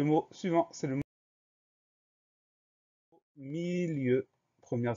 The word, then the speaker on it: milieu: Le mot suivant, c'est le mot milieu. Première syllabe, mi, M-I. Deuxième syllabe, lieu, L-I-E-U. Le son E s'écrit E-U dans ce mot-là.